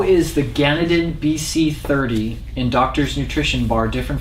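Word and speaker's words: GanedenBC30: yeah uh this product is a spore base pronounce it again it is uh gannadin bc30 yeah that is the trademark name of the spore bio yeah ganondon bc30 i always mispronounce ganadin um this is uh uh one of a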